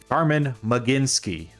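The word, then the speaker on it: Carmen Mlodzinski: maybe I should let me be uh professional Carman mecinski that's how you pronounce that okay 398 ER for Carman mecinski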